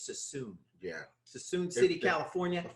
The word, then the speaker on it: Suisun: Yeah, I would always say Suisun, and everybody said no, it's not. It's not Suisun. Sassoon. It's Sassoon.